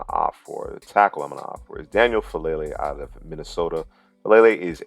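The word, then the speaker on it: Faalele: So Daniel Falele is the pick.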